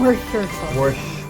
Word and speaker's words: Worcestershire: And just to make it more savory, I'm adding, how do you pronounce it again? Worcestershire? Worcester sauce.